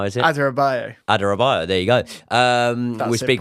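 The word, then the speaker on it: Adarabioyo: I can't pronounce his surname. How is it? Adarabayo.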